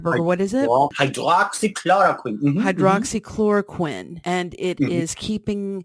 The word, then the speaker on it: hydroxychloroquine: Berger hydroxychloroquine am i pronouncing it correctly that's correct now there is a